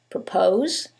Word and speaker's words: propose: same word stress however in the first one it's the second syllable that's stressed and in the second one is the first syllable and that changes the pronunciation completely the first word is propose and the second word